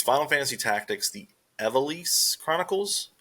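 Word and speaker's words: Ivalice: Um, I might mess this up, but it's Final Fantasy Tactics, the Eve Chronicles. That's how you say it. Ease. Very weird, but looks awesome.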